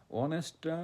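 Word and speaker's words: honest: যেহেতু এখানে অনেস্ট sound হচ্ছে ভাওয়েলের মতো এজন্য আমরা কি দিব?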